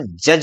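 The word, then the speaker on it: judge: इसको क्या हम जड्ज बोलते हैं, नहीं, इसको क्या बोलते हैं, हम जज बोलते हैं।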